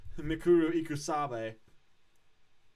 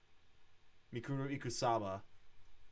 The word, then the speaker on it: Mukuro Ikusaba: witnessed the stabbing and then fucking explosion of Mikuru Ikusabe, the 16th student who was until recently lying hidden somewhere in the school. They call her the ultimate despair. Mikuru Ikusaba.